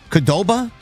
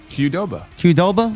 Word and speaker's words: Qdoba: How do you pronounce this? QDOBA. Qdoba. Qdoba.